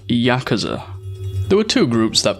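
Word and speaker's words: やくざ: most worthless hand possible in oo kabu 89 and three pronounced yakaza there were two groups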